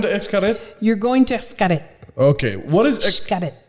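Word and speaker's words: Xcaret: excavate you're going to escara okay what is it it's got it so they pronounce the x like like sh so it's like uh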